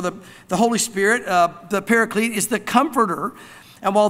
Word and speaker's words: Paraclete: comes from the word actually is the word Paraclete which comes from two words para we talk about para alongside so para Clete might be another way to say it but